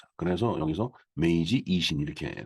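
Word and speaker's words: 明治維新: 말로는 그렇게 읽고 있습니다 메이지 유신 유신은음 일본 발음으로 이신이 되겠어요 그래서 여기서 메이지 이신 이렇게 써 있죠 우리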